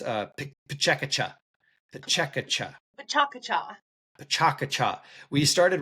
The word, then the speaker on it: PechaKucha: But I believe it's pronounced PechaKucha.